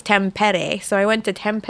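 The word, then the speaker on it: Tampere: went to a place called now I can pronounce it right I used to call it Tam pier but it's temp Eddie so I went to temp at a flint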